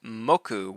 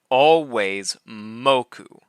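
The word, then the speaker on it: moku: Stress in tokyp pona is always on the first syllable of a word. So this word mku which means consumption will never be mou.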